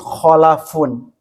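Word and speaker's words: خَلَف: Yang pertama disebut khalafun, yang kedua disebut khalfun. Kalimatnya sama tapi beda harakat tengahnya.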